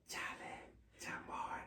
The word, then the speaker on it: Chale Chamoy: the a part of it is silent. It's Chale Chamoy.